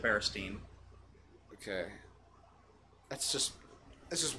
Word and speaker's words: Berenstain: I okay hold on what did they call them in the show bear stain they call them the Bears team it's always it's always been the Berenstain Bears they pronounce it bear esteem okay that's just this